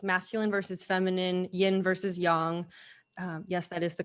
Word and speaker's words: yang: We're talking about masculine versus feminine, yin versus yang. Yes, that is the correct pronunciation of yang. It's not yang. Oh, really? Yeah. So yin and yang.